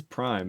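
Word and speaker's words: ′: V4 and going no it's readable yeah it's pronounced Prime I'm saying I use single quotes and it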